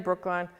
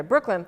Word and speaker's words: Brooklin: He died in October 1st, 1985, and he's buried in Brookline with, I'm going to mispronounce it. Is it Brooklyn? Yeah, why am I saying Brookline? Okay, Brooklyn, thank you.